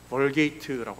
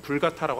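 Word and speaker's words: Vulgata: 월게이트라고 하는 불가타라고 하는 발음하는 라틴어입니다.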